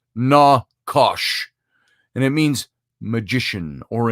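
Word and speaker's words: נחש: The Hebrew word for the book of Genesis, for the word snake, which you and I have all talked about before, is nakash, pronounced na-kosh.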